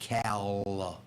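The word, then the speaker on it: cowl: Cow. Cow. C O W L. Not a moo cow, but a car cow.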